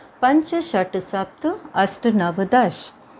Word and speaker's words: दश: नव और दश, इसको दश उच्चारण करते हैं। बहुत बच्चे हिंदी वाला बोलते हैं जो कि सही नहीं होता है।